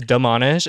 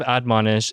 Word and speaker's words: admonish: ask I did too I thought it was demonish and then I was like wait she said something else there's another syllable in there and I was like so definition of admonish is to warn or